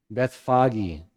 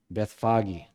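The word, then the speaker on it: Bethphage: or beit anya and do you remember the how to pronounce the other one beth foggy yeah beth foggy so this is where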